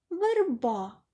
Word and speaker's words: верба: самі гриби наступне слово верба ми бачимо що наголос падає на другий склад А от в першому складі звук е не наголошений за правилом ненаголошений звук е у вимові наближається до и Прочитайте їх думайте з тітки верба а хочеться сказати верба Ми чуємо призвук и продовжуємо працювати читаємо